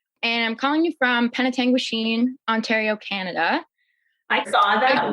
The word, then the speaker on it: Penetanguishene: Well, I'm 24 and I'm calling you from Penetanguishene, Ontario, Canada.